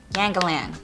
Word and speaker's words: Yangalan: Yangalan, all right, that's how you say it.